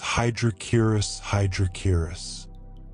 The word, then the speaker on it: Hydrochoerus hydrochaeris: Their scientific name is Hydrochoerus hydrochaeris. Let these syllables wash over you. h y d r o k o r u s h y d r o k r i s The name comes from Greek, meaning water pig.